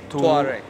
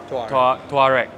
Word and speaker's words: Touareg: Hey, sorry, how do you pronounce this? Touareg. Touareg.